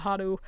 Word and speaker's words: Haru: hotaru but in the the actual pronunciation hatah hadu we loved hadu like I I told